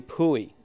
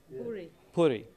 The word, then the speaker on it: Puri: now one of my favorites happens to be puy if I'm pronouncing it correctly until pu Puri Puri okay thank you Puri until I found out